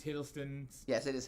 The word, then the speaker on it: Hiddleston: i said it wrong um i think it's hiddleston yes it is hiddleston i was correct i think it's his uh